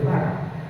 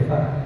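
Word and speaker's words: Fahr: Inclusive hay un signo radiográfico que es bueno mencionarlo, que es el signo de Farr.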